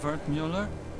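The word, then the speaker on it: Wertmüller: Well, sometimes wart cut up version of Vert Mueller. It's German from my father. He said to always insist on the umlouts. Otherwise, people butcher the pronunciation.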